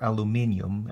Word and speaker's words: aluminium: Okay, calculate the displacement at X is equal to 50 inches for the aluminum beam, or aluminium, as it's sometimes pronounced.